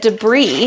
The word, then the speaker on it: debris: In fact, I have a memory as a uh as a fourth grader, my teacher teaching us that debris had a silent s.